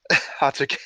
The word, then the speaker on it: Hatake: That actually hurt to hear Kakashi's name butchered like that. Is that not how you say Hatake? Hatake.